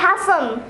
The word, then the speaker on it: hasten: It'll be Hassan.